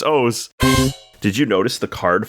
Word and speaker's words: Oz: Oz, O-Z, but he pronounced it Oz, so I wrote O-W-E-S. Every time I put in my notes so I would pronounce it properly. Okay. I was like, who calls himself Oz? It's O-Z like Oz.